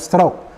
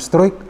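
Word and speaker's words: Struick: debutan Rafael stroke ya ini pronunciation-nya atau cara mengucapkannya adalah Rafael stroke ya saya tadi cek di Google jadi bukan Strike apalagi Strike seperti itu ini kan pemain muda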